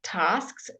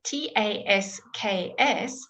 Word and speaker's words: tasks: And then when you have a word like tasks, T-A-S-K-S, you have tasks. And yes, we do say all of it.